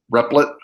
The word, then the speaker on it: REPL: And by the way, one of the reasons I use the REP, the replet is how I pronounce it, is because it's on